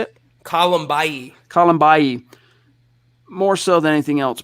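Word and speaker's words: Kalambayi: Colombayi.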